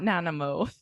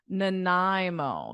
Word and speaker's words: Nanaimo: something like that no thankfully it is not nanimous but what about the stress on the middle of Nanaimo oh getting better maybe it's Nanaimo so you were close with the stress but